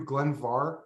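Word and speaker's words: Glen Mhor: it includes a 1982 Glenvar spelled more m-h-o-r but pronounced VAR uh closed Distillery bottling we have not had a balling from Glenvar in our shop since 2011.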